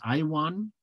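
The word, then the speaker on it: IAWN: The acronym, we pronounce that IWAN.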